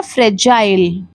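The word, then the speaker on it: fragile: इसका correct pronunciation है फ्रजाइल। क्योंकि यहां पे जो जी है वो ग का साउंड नहीं देता है। ज का साउंड देता है।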